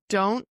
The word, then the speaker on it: don't: Don't. So we have I don't know. But because we're not pronouncing the T at the end of don't, we're blending this don't into the next word.